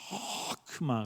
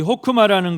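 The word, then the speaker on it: חכמה: 호크마, 가래 뱉는 그 발음으로 호크마. 그런데 이 호크마라는 것이 뜻이 뭐냐면 지혜, 또 명철, 또 현명함, 그런 뜻이 있어요.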